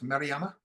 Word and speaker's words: Marama: for listening thank you marama is that how I pronounce it right marama yes that's correct lovely thank um Robert